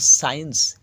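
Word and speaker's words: science: Saint অর্থাৎ আদর দেখো সাইন্স এস সি আই ই এন সি ইস এস এর পরে যে সি এর উচ্চারণটা নেই তাই সরাসরি এখানে হচ্ছে সাইন্স অর্থাৎ বিজ্ঞান তারপর আছে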